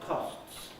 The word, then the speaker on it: costs: that practically everyone today doesn't say the final s in a word like costs i have to slow down and be careful to say that and certainly you never